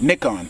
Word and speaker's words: Nikon: From a historic standpoint, this is the first new mount that Nikon has, or Nikon, I like the way the British say it, Nikon, that Nikon has made since 1959.